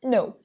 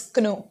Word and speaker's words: know: of pronunciation but no you cannot pronounce it as canoe K is silent similarly when it comes